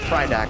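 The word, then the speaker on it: Pridak: So this guy's name is Predak, or Prydak according to the wiki pronunciation thing.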